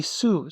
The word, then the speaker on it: す: This makes the su sound. Think sushi, which, by the way, is a word you're about to be able to read.